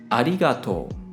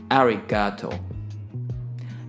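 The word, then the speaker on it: ありがとう: Unlike English, when you speak Japanese, all the syllables are pronounced equally, and so there's no stressing or sustaining. So for example, when I say thank you in Japanese, I pronounce this as arigato.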